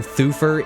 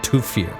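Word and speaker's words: Thufir: played by Freddy Jones they also call him thuer in this movie but I am still very much willing to die on the hill that it's pronounced toir some sometimes th just makes the T sound and this is one of those times and this is also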